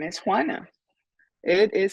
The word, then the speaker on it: Juana: My name is Juana. It is spelled Juana, and it's pronounced Juana.